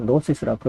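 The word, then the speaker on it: Gnostic: 금융스틱 시즌 내년 출연자 영어로는 나스티 시즌이라 그러죠지 발음을 안 하고 notis라고 합니다 그 영지주의가 생겼는데요 신학 시대에 가장 위협적인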